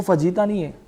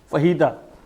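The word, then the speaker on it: fajita: रहे होते है वो फजीता नहीं है उसके प्र उसकी प्रोनंसिएशन फजीता नहीं है उसकी प्रशन है फता फजीता नहीं है आप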